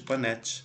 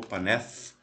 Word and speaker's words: Paneth: Temos essas células aqui, ó, as bonitinhas aqui, que são as células de Panett, ou Paneth. Aí depende de onde você está para você falar direito aqui a pronúncia aqui do Panett.